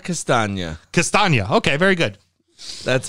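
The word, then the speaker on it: Castagne: i give you a little help on the pronunciation for that lasagna castagna castagna okay very good that's how i go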